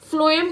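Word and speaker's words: phloem: फ्लोएम का काम होता है फूड ट्रांसफर कराना, इसको आप ऐसे ही याद रखेंगे, फ्लोएम, एफ से समझ लीजिएगा उसको, वैसे उसकी स्पेलिंग पी से होती है, लेकिन फ्लोएम और फूड ऐसे आपको याद करना है।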